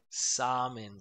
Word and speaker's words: salmon: because there is an L, but I think in this case we wouldn't pronounce the L.